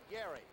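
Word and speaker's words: Gerry: down pushing people away he spells that first name by the way g-e-r-r-y and he pronounces it Gary first in 10 now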